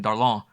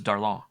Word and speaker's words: Darlan: Did she pronounce it right, or like a southerner saying darling?